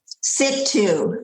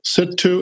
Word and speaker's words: Situ: Situ. Situ and Jiddu. Yeah, it would be S-I-T-U or S-I-T-O-O.